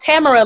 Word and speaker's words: Tamara: tamara music and it is pronounced tamara like camera but it is not spelled like camera spell t-a-m-a-r-a-j-a-d-e music on